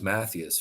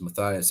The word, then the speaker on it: Matthias: name was was awesome I thought it was Mathias for so many years but um I realized I found out that the the pronunciation is Matthias and I actually even biblically um which I'm